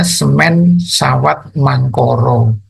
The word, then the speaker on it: Semen Sawat Mangkara: akar-akar ini ya terd pada batik semen sawat mangkara kalau bahasa Jawa bacanya semen sawat mangkoro yang kedua motif Meru